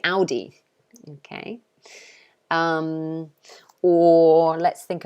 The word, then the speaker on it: Audi: make over here um we pronounce it audi okay so we say ow like ow you hurt me so we say audi okay um or let's